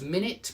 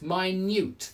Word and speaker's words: minute: Notice it's got the same spelling as minute, but it's minute, the pronunciation. So pronunciation changes there for the adjective.